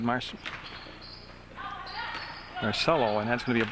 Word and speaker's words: Massarello: Looks like Marcelio, but I asked Coach Larson. He said Marcello, and that's going to be an up fake, and they'll come back around.